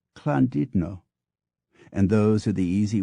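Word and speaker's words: Llandudno: instance is pronounced Dolly while l l a n du dno o is candido and those are the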